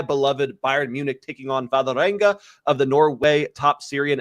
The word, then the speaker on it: Vålerenga: Give me the pronunciation so I don't screw it up on the recap screen. Vålerenga? Vålerenga.